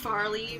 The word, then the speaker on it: Farley: of like an angel so Farley rhymes with Charlie so you know Charlie's